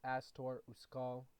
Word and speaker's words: Astor Uskal: It's pronounced Astor Uskal.